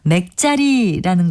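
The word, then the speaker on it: 맥짜리: 또 물고기 따위가 팔뚝만한 크기임을 이르는 우리 고유어 표현으로는 맥자리라는 것도 있는데요. 두 번째 음절의 자는 발음과 마찬가지로 된소리인 쌍지읒을 씁니다.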